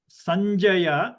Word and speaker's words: Sanjaya: End of the chavarga, try to pronounce Sanjaya and watch what you pronounce before the ja. That is nya, Sanjaya.